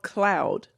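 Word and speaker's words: Khloud: Called Cloud. And it's of course spelled with a K. K H L O U D.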